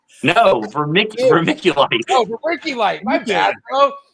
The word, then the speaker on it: vermiculite: No, vermiculite. Oh, vermiculite. My bad, bro. Okay, hold on. I want to get it right. Please teach me. How do you say Mick, yes. like Mickey Mouse?